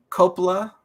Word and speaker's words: Coppola: You have Diane Keaton, Francis Ford Coppola. I'm not sure I said his last name right. Yeah, that's how you say it.